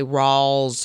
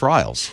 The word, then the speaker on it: Riles: not unusual i think the pronunciation people want to say rawls or i've heard i'm like you're making it too hard i looked at it and thought oh that's riles see when i first